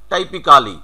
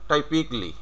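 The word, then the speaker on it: typically: যেমন এখানে যতগুলো ওয়ার্ড আছে সেম সবগুলোর, যেমন টাইপিক্যালি, পরেরটা আমি আর বাংলা করে দিইনি, পরেরটার টাইপিক্যালি, আমরা কিন্তু এভাবেই উচ্চারণ করে আসতেছি। তাহলে এটা কি উচ্চারণ হবে, টাইপিকলি।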